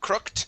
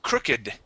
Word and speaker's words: crooked: aged very good um this here instead of crooked it is crooked crooked okay crooked M yeah so here um because this is an adjective all right adjectives in some in some cases um if they have the Ed ending we do not follow the